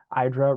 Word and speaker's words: IDRA: IDRA rhymes with Hydra to connote an entity